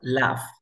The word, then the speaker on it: laugh: Reírse se pronuncia laugh. A ver, repite conmigo, laugh. Laugh. Sí, así como ha visto Frozen, ya, el oso, el muñeco de nieve se llamaba, el snowman se llamaba Olaf, así con esa terminación, laugh. Se escribe L-A-U-G-H, laugh, laugh.